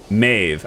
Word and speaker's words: Maeve: He is my daughter, and it's pronounced D with an A, not E, so it's Maeve.